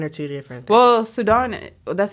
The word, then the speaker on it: Sudan: Well, Sudan, that's how I pronounce it. So it's just Sudan is just Sudan. Sudan is like, in America. Just American way of saying it.